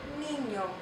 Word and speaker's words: niño: Ñ makes that like the NY sound. Ñ, ñ. Ñ. As in niño. It usually occurs within a word, not at the beginning of a word.